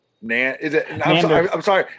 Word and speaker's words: Nandor: Well, how Nander? Nandor.